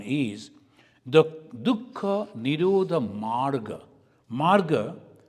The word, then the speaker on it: marga: Marga, they say magga in Pali, they pronounce, but it is marga.